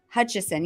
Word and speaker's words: Hutchison: If I'm saying it correctly, let me see. Hutchison. Yeah, there's no N.